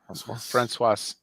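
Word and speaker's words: Françoise: ] you pronounce it they pronounce an s in there they do francoise there it is um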